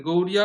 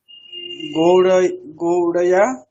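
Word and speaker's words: গৌর্যা: গৌড়য়া, আবার গৌরয়া নয়, এই যে ভুল লিখেছেন বলে ভুল বলছেন। গৌরিয়া, গৌড়িয়া উচ্চারণটা হবে আসলে।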